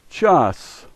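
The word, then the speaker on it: час: The first letter is cha, the second letter a, and the third letter s, and this is pronounced chas, chas.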